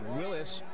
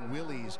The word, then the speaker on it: Willys: I mean, just to be perfectly technically correct, Willys is how the company referred to itself, although so many people call it Willys, myself included, really.